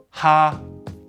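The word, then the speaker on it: 哈: It's pronounced ha.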